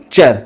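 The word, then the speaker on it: future: পারে সূত্রটি মনে রাখো যদি টি বর্ণ পরে ইউ আর ই বলে শব্দ হইবো তবে টির উচ্চারণ চব উদাহরণ এফ ইউ টি ইউ আর ই এটি টি পরে কন হইছি ইউ আর ই তে উচ্চারণ কন করিব চর ফিউ ফিউচার অর্থ ভবিষ্যৎ এন এ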